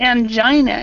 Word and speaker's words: angina: I had s medic okay yeah okay and angina is how we pronounce it angina okay angina but I'm not even sure what it is